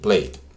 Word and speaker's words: played: Entonces, play, played. ¿Vale? En esa ocurre lo mismo. Call y call. Call, call. Call, call. Suena muy parecido, pero cuando yo estoy pronunciando estas, se escucha la D al final.